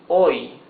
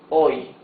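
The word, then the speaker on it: hoy: Here it says oi. Oi. H is mute. So you pronounce the O and the Y.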